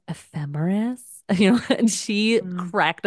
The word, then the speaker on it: ephemeris: She said it ephemeris. And I just looked at her. I go, it's pronounced ephemeris.